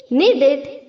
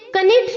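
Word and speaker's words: knead: okay नाइक्स नाइफिंग NEET needed needed देखिए यहां पर भी के साइलेंट है नीट नीडेड नीडेड हमें इसे कनेट नहीं बोलना है राइट नीड नीडेड नीडेड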